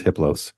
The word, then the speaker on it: Hippos: entity his name is hippos the H is silent the other three are